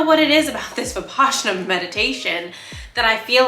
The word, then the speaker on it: Vipassana: And then I do the 10-minute like actual Vipassana, that's the correct way to say it, meditation.